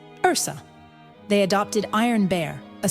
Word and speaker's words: URSA: They forced us to pronounce it Urusa, but to distinguish it from Usha, we whispered it in Latin among ourselves. Ursa.